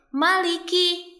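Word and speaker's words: مَلِكِ: Perhatikan ya, huruf mim di sini sering dibaca panjang padahal huruf mim ini bukan berhadapan dengan alif. Jadi bacanya jangan panjang ya, bacanya pendek. Maliki. Maliki.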